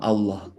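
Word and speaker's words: الله: Kenapa Allah itu menamai dirinya dengan nama Allah yang huruf belakangnya itu pakai H besar yang diucapkannya di dada, bukan hak kecil yang diucapkannya di sini.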